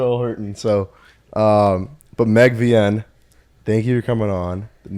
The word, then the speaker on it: Vien: Okay, VN. Just Shut the fuck up, Siri. Good to meet you too, Siri. so it's just VN.